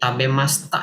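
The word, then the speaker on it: 食べました: Jadi tabemashitaka ini tabemasta ya bacaannya. Tabemastaka ya. Jadi masita itu dibaca masta ya.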